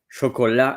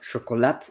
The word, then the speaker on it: chocolat: Chola in French. So you don't pronounce the tea. It's not chocolate.